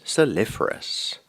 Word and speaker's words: saliferous: Sea water is known to be quite saliferous. Can I have the meaning, please? It's containing much salt. Am I pronouncing the word correctly?